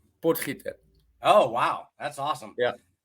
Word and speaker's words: Potgieter: And how do I pronounce the last name? Potgieter.